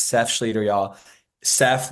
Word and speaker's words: Seph: it's Seth Scher y'all Seth like Joseph without the Joe or Sephora without the aura is is is the